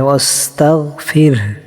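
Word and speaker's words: وَاسْتَغْفِرْهُ: ঠিক আছে, এখানে হাটা চাপ দিতে হবে, ফাসাব্বিহ বিহামদি, এই দুইটা হাত চাপ দিতে হবে, হায়ে হুত্তি বলে, আর শেষে হাটা উচ্চারণ হবে ওয়াস্তাগফির, ফির।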